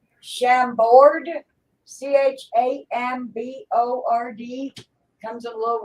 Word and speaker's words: Chambord: oh yeah, It's how do you pronounce that? It's Chambord, Chambord.